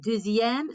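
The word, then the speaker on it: deuxième: pronounce it d but because we're kind of linking that x with that i we get a little bit of a z sound so once again jizzy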